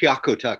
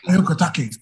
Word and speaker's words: Hyakutake: I always pronounce it Hyakutake. Hyakutake.